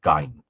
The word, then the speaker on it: Gein: So you see people are saying who speak German, the audience is saying that it should be pronounced Gein.